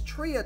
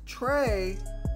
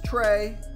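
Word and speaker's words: Trea: who the heck is tria turner it's pronounced trey come on chris and you know what you're right that was pretty bad it is trey it's not tria and guys i am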